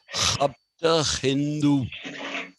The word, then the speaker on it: Hapta Hindu: Actually, the way it is pronounced is Hapta Hindu.